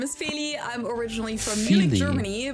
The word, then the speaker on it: Feli: My name is Phy.